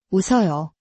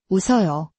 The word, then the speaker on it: 웃어요: 웃어요, 웃어요.